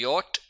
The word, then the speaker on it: J: उसके बाद है यट। यानी कि जो इंग्लिश में जे होता है उसको हम जर्मन में यट पढ़ते हैं।